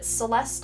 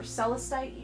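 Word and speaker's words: Celestite: so spirit angelite and celeste or celicite i've heard it pronounced both ways so however you pronounce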